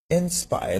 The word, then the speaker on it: Nspire: But first, Nspire. Now it is spelled N-S-P-I-R-E.